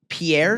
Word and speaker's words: Pierre: Pierre. Yes. France. Pierre. Wait. No, we know this one. Pierre is like cuz they they pronounce it like pier.